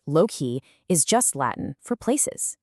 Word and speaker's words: loci: Well, loi, pronounced low-key, is just Latin for places.